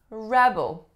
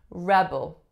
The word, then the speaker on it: rebel: one is rebel rebel so as a noun the strongest syllable is the first of course it makes a sound at the second vowel sound is bull so a schwa rebel as a verb would say rebel so in this case